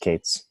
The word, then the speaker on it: K3s: are focusing on minimalism, like K3S, pronounced Kates.